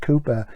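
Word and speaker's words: Cowper: favorite then um Richard cper pronounced Cooper that's copr and I'm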